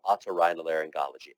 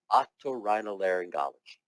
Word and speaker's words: otorhinolaryngology: baloney up there and come up with proper pronunciation of otorhinolaryngology. And it's okay if you're doing it with an accent. It's all right as long as it's correct. Okay? Otorhinolaryngology.